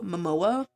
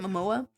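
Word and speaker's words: Momoa: I thought Jason, um, Mo Mimoa, I think that's how you say it. Mimoa.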